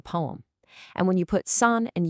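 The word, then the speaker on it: 산: In Korean, we say sun and it means, you guessed it, mountain.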